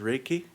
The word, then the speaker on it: Reiki: So for example um when you're practicing uh Reiki is it pronounced raiki?